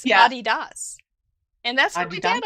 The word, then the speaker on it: Adidas: german companies names like oh adidas but it's body das and that's what your